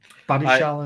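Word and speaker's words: Badiashile: Badishal, is how you pronounce it.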